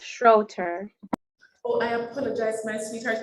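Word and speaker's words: Schroeter: is Diamond Schroeder Diamond structure oh so Diamond are you from Mona Heights primary I am and it's pronounced Schroeder oh I apologize my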